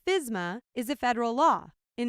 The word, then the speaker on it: FSMA: The food safety modernization act, commonly shortened to FSMA, and pronounced fyz-ma, is a federal law.